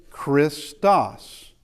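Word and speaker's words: Χριστός: So, this what sound does key have? It has a K kind of sound. It's a ch. It has a K kind of sound like chemistry. I know it's ch is chemistry, but it has that K sound.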